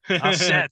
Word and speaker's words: ancêtres: Ancêtres. Ancêtres. I'm struggling with that. We don't pronounce the S. It's an accent now.